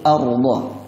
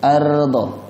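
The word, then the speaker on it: ardh: بناءً Alladzi ja'ala lakumul arda. Ra-nya tebal karena ada ra mati didahului kat fathah. Cara bacanya ar. Ya, kalau dibaca ardo itu kurang tepat. Lidahnya bergetar dengan tebal.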